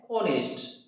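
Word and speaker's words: honest: जैसे ये एक बेलिंग आ गया तो ऑनेस्ट है, इसका प्रोनाउंसिएशन क्या है, ओ से शुरू हो रहा है, ठीक है, इसका प्रोनाउंसिएशन है ऑनेस्ट, ऐसे है।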